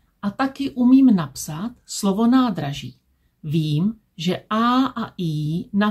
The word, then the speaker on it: nádraží: Vím, že čárka znamená, že A a I vyslovím dlouze. Vím, že háček znamená, že Z vyslovím měkce. Ž. Když říkám slovo nádraží, říkám ho správně.